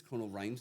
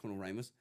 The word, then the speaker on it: Conal Rhymes: And I got off, and the guy Conal, I think it's Conal Rhymes, not Conal Rimus.